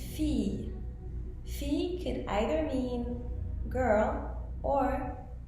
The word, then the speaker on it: fille: So, double L will be pronounced as y, like fille. Fille could either mean girl or daughter.